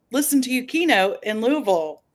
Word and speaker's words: Louisville: and I'm glad you reminded me it's Louisville Louisville because nurse Rosa who you know we all know um you know I I had to hear it from her a couple times before I pronounced it correctly but yeah I would